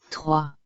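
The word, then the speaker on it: trois: in this word through a o i sound is pronounced as uh so wherever you see o i you have to pronounce it as uh oh this R sound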